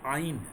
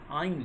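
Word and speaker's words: -yne: लिखते समय हम लोग इसको YNE लिखते हैं, लेकिन प्रोनाउंस करते हैं हम लोग इसको आइन, आइन, लास्ट वाले C ट्रिपल बॉन्ड C के लिए आइन।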